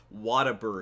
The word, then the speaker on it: Whataburger: There's a chain here in Texas called Whataburger. No, what a burger. Don't confuse people and make them think they're eating water. Alright, it's spelled what?